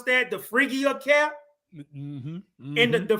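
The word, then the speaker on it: Phrygian: cap, which is called the, how do you pronounce that? The Phrygia cap. Mm-hmm, mm-hmm. And the Phrygia cap is actually Phrygia.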